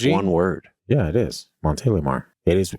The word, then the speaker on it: Montélimar: That's how you pronounce it. Monte Lear. Oh, okay. France. The way you said it kind of quickly. Did it sound douchy? And it sounded like one word. Yeah, it is. Monte Lamar.